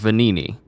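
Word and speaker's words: Venigni: guy's name wrong I I it's it is pronounced venini uh but the clothing of the mischievous wooden puppet vanini made for the parade everyone in crot knows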